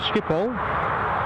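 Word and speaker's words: Schiphol: on future shows we're off the skipol as I understand it's pronounced on the 18th and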